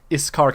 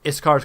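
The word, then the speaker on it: Yscar: I think Iskar kind of raises an eyebrow at you. By the way, that's spelled Y-S-C-A-R.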